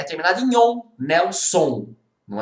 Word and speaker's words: Nelson: Qual que é a sílaba tônica de Nelson? É o Nel, né? Nelson é uma paroxítona, é a penúltima sílaba tônica, né?